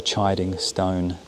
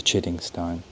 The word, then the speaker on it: Chiddingstone: And before anyone corrects me, I just found out it is the chiding stone, not the chitting stone.